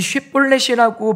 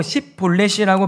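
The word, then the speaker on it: שִׁבֹּלֶת: 근데 중요한 건 뭐냐면 이 쉿볼렛이라고 발음을 하게 해서 못하고 십볼렛이라고 발음을 하게 되면 죽이는 것을 오늘 성경이 우리에게 말씀합니다.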